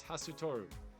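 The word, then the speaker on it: Hastur: The name may be pronounced as Hasutoru, one of the gods far beyond the understanding of mankind who presides over the wind.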